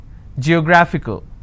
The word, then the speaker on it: geographical: But this will still be combined as word ending, and this is the stress. Geographical.